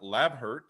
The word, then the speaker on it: Labhart: Now, today we have another great guest on the podcast, Noah Labhart. If I can pronounce it right.